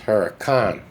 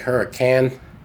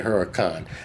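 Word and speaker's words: Huracán: a CA N and it's pronounced Huracan shouldn't be like hurrican CA NS can but they say Huracan they leave the e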